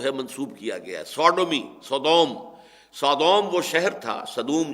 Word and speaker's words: Sodom: منسوب کیا گیا ہے، سوڈومی، سودوم وہ شہر تھا، صدوم جس کو ہم کہتے ہیں، سوڈوم SODOM، یہ بائبل میں اس کا تلفظ ہے، تو اس سے یہ